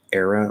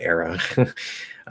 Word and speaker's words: era: Do you pronounce era like era or era? Well, good question. Well, obviously I said era. Thank you, crystal clear. Perfect. Yeah, so era is another pronunciation. And sometimes I might use it. I'm not aware of which one if I switch between the two. But there's nothing wrong saying era.